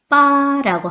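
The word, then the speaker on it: 八: 그럼 왜 팔자를 좋아할까요 여덟 팔의 발음은 빠라고 하고요 돈을 많이 벌다 부자가 되다 할 때 발음은 파라고 합니다 자 빠와 파 어때요 비슷한가요 예 발음이 비슷하다는 이유로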